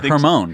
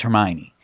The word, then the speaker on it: Hermione: me harry potter and you wouldn't pronounce hermione correct you said hermione hermione or hermone you said her hormone i think so i